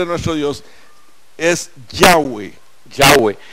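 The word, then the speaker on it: Yahweh: tengan una idea de por qué es la pronunciación correcta nueva en idioma ni llaves sino yagüe y aquí tenemos que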